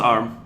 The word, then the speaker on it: ARM: It's pronounced ARM. In It's my an head, acronym. I've been calling it ARM in my head all this while. No, it's ARM because it's an acronym.